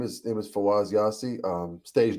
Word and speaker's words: Fawaz: Is it Fawaz or how do Yeah, you you got pronounce it that? perfect. Yeah, Fawaz.